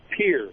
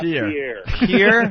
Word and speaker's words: Pierre: Yeah, you guys pronounce that wrong. It's Pierre, not Pierre.